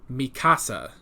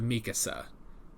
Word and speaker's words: Mikasa: to point this out i've heard a lot of people who watch the sub say mikasa instead of mikasa is that right i